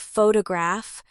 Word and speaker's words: photograph: For example, in the word photograph, the stress is on the first part, pho to graph.